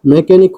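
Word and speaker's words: mechanic: मैकेनिक का मैकेनिक हो जाता है।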